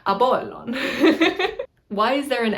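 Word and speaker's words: Ἀπόλλων: Apollo is Apollon, Apollon. It's very difficult for me to say this one because I can't pronounce this letter. If you're an English speaker, it's very hard to do this letter because this letter is an unaspirated P sound.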